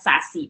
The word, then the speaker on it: SASE: need for a secure access service edge or pronounced as sassy architecture now what is sassy secure access service